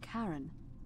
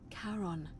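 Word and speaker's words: Charon: it's just as you described it only your pronunciation is a little off the name you heard wasn't karen it was c h e r o n as in caron the ferryman of the dead oh [ __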